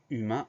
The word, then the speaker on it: humain: Première syllabe U, H-U, donc on fait très attention à ce H muet au début du mot. Deuxième syllabe main, M-A-I-N, c'est une syllabe qui s'écrit exactement comme la main. On fait attention donc à ce son 1 qui s'écrit A-I-N. Deux particularités pour ce mot, le H muet au début du mot et le son 1 qui s'écrit A-I-N, humain, H-U-M-A-I-N.